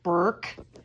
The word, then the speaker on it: Burke: Excuse me, Dooney and Burke. Sorry, I always pronounce it Bourke and I get in trouble.